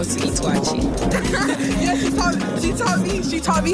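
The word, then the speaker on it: waakye: I taught you how to eat wachi. Yeah, she taught me how to eat. Wait, huh? How do I pronounce it?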